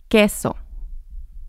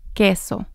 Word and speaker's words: queso: and here's another example queso queso so here the Q makes the k sound and the U doesn't sound in this instance there's an exception here